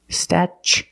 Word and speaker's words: statue: Then we use the ch sound, statue. For the second syllable, we use the long oo like boot and moon, oo. Together, statue.